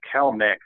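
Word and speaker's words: Kelenic: We already talked about Jarek, and I think it's actually pronounced Kelnick, as I'm hearing the draft experts say it on TV and whatnot.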